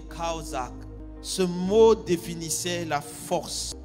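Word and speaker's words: חזק: Oh oui, premier mot utilisé par les Juifs pour soutien était le mot kaozak, qui s'écrit shazak en français, mais qui se lit kaozak.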